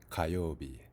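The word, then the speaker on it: 火曜日: It has multiple pronunciations, so even though when we're talking about fire, we say hi, when we're talking about Tuesday, we say ka, as in kayobi.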